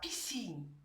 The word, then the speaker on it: piscine: Le son S peut aussi s'écrire S. S avec le C. Dans quelques mots, comme la piscine, S avec le C.